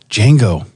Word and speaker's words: Django: he's james throwing a ten point what about django bro that starts with a d you don't you don't pronounce it ooh django yeah that's a good point or chevrolet there's